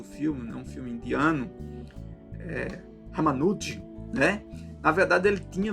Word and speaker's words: Ramanujan: Mas, a priori, inicialmente, o Ramanujan, né, pronuncia dessa forma, ele recebia visões, né, de uma entidade indiana, e ele conseguia fazer teoremas complexos do conhecimento matemático.